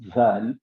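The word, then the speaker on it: ذال: is called study so when you want to pronounce zal make sure that you bring the tip of the tongue in between the two teeth that is the upper teeth and the lower teeth something like this then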